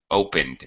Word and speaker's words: opened: Opened. Open it. Opened. Opened. And. Opened. Yeah. End. Just like if you say the word end, E-N-D, end. You don't say ended. You just say end.